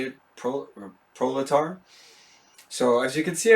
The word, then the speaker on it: proletar: That's how you say it, proletar.